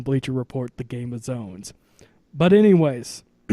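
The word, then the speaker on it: Zōn: I'm pronouncing the name wrong, as it is pronounced as Zone. Yes, Zone.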